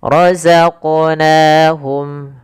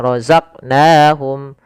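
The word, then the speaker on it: رَزَقْنَاهُمْ: Kita pantulkan huruf qfnya. Kesalahan yang terjadi adalah tidak memantulkannya. Misal roqnahum harusnya itu yang pertama. Keselahan kedua menambahkan hamzah misalnya rozaq. Rozaqnahum rozaq. Nah, harusnya mengalir.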